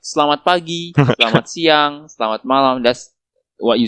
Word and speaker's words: Selamat malam: Selamat malam.